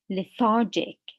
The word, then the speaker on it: lethargic: the first part lethargy what about the adjective in the adjective the stress is on the second syllable the second part we say lethargic lethargic so here liturgy here